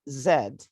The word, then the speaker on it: Z: okay w and also zed could be pronounced z in american english both are correct and we